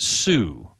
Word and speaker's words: Hsu: a company called they they normally pronounce it Sue it's Hsu it's a Chinese guy